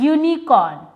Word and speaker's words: unicorn: Because the sound of U is Y and U.